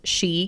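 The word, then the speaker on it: 四: The number 4, for example, pronounced she, can also mean death.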